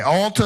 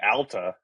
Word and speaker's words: Alta: Alta is always fine. Alta is always fine. Oh, is it Alta? What's the What's the What's the uh Yeah. Yeah. Yeah. As as the locals say, Ala.